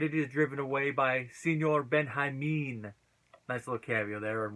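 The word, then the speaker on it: Señor Benjamin: So the audience loves Senor Benjamin. And in case anyone's wondering why I'm pronouncing it that way and they don't know, that's how you say it in Spanish.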